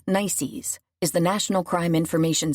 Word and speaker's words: NCIC: NCIC, pronounced "nicees," is the National Crime Information Center.